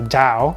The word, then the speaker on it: Tao: about the taoist philosophy, with a T, TAO, but pronounced with a Dao So Taoism.